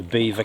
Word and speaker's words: Belvoir: we went past the beaver Castle so a lot of this land around here is estate land Beaver Castle as it's uh pronounced is spelled Belvoir and that's from the